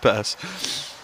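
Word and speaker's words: Pers: My name, Purse, P-E-R-S. I've just, Lockie, funny you say that. He's just walked past me. I said, mate, how do you say your name? He said Purse.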